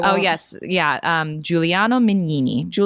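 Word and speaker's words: Giuliano Mignini: I don't want to mispronounce his name, so I won't Oh, yes. Yeah. Um, Juliano Mini.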